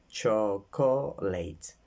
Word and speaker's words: chocolate: For example, the word chocolate. In the first syllable, I can make a big square because it's a strong syllable. Co is small square, and late is a small square.